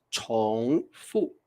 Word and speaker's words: 重复: 诉你们，这是一个多音字啊，多音字，我们念重复，重复。